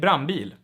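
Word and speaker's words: brandbil: de dile all right the d here normally gets dropped and we get brambil and here you can you can see another assimilation because the n in front of b and p is turned into an m all right this is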